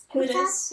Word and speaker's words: Kutas: We have beautiful, I want to get your name correct, how do you pronounce it? Kutas, yeah.